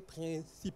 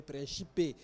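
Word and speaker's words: Príncipe: dénomination officielle c'est sautomé et principe ou bien principé si on prend leur prononciation donc voilà quelques remarques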